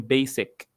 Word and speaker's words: basic: The given tree is basically على فكرة ما اسمهاش basically pronunciation ده غلط basically the given tree is basically جاي من basic أنا بقول لك المرتب البيسك بتاعك هو basic